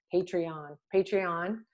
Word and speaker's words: Patreon: I say this wrong all the time. Patreon. I said it right.